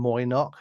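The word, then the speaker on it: Mo'ynoq: So, this is a band called, I'm going to just call them Moynock. It's like MO apostrophe YNOQ.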